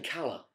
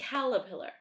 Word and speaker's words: caterpillar: Yeah, but you're saying Cala. Yeah. No, but there's a T. Caterpillar. You don't say waller for water, do you? You pronounce the T.